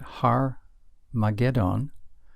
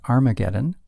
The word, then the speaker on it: Armageddon: yet to come and it will happen at har mageddon or as it's commonly pronounced Armageddon har is Hebrew for mountain and then magedon